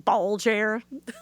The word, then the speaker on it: Balgair: What a name, Baljer. I even looked up the pronunciation. I was like, wow. How's it spelled? Balgair.